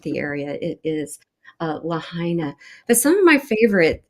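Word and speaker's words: Lahaina: I was saying Laana, I believe, and it's Lahina. So, my apologies to anyone familiar with the area. It is uh Lahina.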